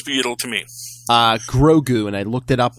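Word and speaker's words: Grogu: yle to me uh grou and I looked it up on uh online to see how you spell it g r o guu grou just like it just like it sounds yes gr which actually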